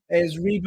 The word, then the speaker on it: Reba: Her name is Reba McEntire. Viva McEntire. Well done, Viva McEntire. Well, if I have mispronounced it, I will apologise.